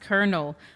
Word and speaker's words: colonel: Someone in the comments says, one of our regulars, a very loyal viewer, Stu of Matt, says it's pronounced colonel. I think in Arabic we say colonel.